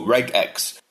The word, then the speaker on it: regex: Personally, I pronounce it with a hard G, so regex.